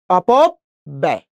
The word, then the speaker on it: অপব্যয়: এই অন্ত্যেষ্টির সাথে অ, ওই জন্য সেই জফলার উচ্চারণটা আমরা কি করব, এ। এ, এই যে অন্ত্যেষ্টিয়, অপব ব্যয়, কি হবে, অপব ব্যয়।